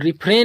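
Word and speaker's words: refrain: और रिफ्रेन means होता है बचना।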